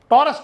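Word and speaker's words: Taurus: गलत लिखी हुई है इसको आप करना टोरस टी ए यू आर यू एस इस तरह से होता टोरस कहते टोरस टारस नहीं कहते वो टेक्निकली हर बुक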